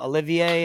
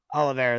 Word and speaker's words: Oliveira: of that that's uh olivier and oliveira oliveira that's how you say it sorry yep and justin